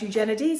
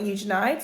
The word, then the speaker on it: Eugenides: Certain things I learnt while reading it was that it's pronounced Eugenides and not Eugenides.